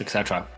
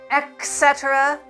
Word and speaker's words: et cetera: money stuck on FTX Etc that is CZ the billionaire founder of Finance mispronouncing Etc he's saying etc etc it's Etc with a t Etc is a Latin